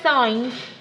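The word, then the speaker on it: sin: it reads in but you pronounce it sign because the full word is actually got an e at the end of it okay but you'll see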